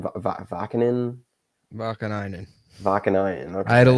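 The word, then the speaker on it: Vaakanainen: Vakanainen.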